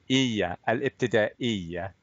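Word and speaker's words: الابتدائية: Isn't it ibtida'i? Yeah, third from last letter, that's your hamza. That's just a simple glottal stop. So Okay. al-ibtida'iyya. Very nice. Okay, so al-ibtida'iyya.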